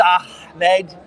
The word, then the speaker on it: Ahmed: I know Ahmed's company did a few. Ahmed Al Musa Al Nakbi or something. I think I hope I didn't mess that up. I know it's Ahmed. Very well. The long H.